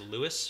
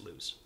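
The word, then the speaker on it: Lews: like that um i i used to pronounce lu i thought it was louis for a long long time but it's lose lose yeah there's a pronunciation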